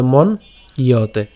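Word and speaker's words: मन्यते: কর্তাহ, কর্তাহ মিতি মন ইয়তে, ইয়তে কেন আপনারা জানেন যে জফলা রয়েছে, তো জফলা থাকলে তার উচ্চারণ কার মতো হবে, ইয়র মতো হবে, তাহলে মন ইয়তে, ঠিক আছে, মন ইয়তে।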